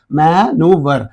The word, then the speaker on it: maneuver: And in this American word, American English word, only E is silent. We pronounce maneuver. But here, VRE is in the British, according to British English. And according to American, VR. You know very well.